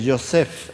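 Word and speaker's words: יוסף: con la yud, y en hebreo la yud nunca se pronuncia como J. Por ejemplo, José, que también se escribe con yud, se dice Yosef en hebreo.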